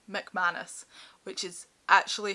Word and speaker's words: McManus: McManus, which is actually how you say her name. McManus is the Scottish way of saying her name.